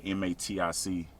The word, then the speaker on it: MATIC: they used to be called polygon they're called medic now and one time i told people to